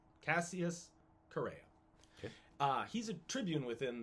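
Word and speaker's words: Chaerea: man named cassius herrera i want to pronounce it right c-h-a-e-r-e-a carrera that's it cassius correa uh he's a tribune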